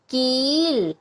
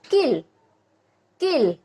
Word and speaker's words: कील: ल, क्या शब्द बनाइए, कील। अब देखिए अगर इसी पे छोटी ई की मात्रा होती इधर, इसका उच्चारण होता किल। अब इस पे बड़ी ई की मात्रा है तो इसका उच्चारण होगा कील।